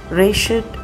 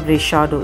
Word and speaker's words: Rechaedo: Rechaedo or Rechaedo, you can pronounce in both the ways.